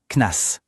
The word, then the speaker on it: CNAS: C'est bon de savoir que dans le langage de tous les jours, on prononce ça KNAS.